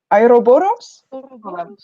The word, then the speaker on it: Ouroboros: Making a little comment to the book, the snake, I don't know how to pronounce it. Ouroboros?